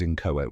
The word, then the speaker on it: inchoate: Spelling tip, it may look tricky, but just remember it starts with in and ends with ate. Now you can say and use in-cho-ate with confidence, like subscribe, and share with your fellow word lovers.